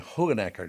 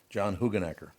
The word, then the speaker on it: Hoogenakker: He pronounces his name Hoogenakker, doesn't he? Yes. John Hoogenakker.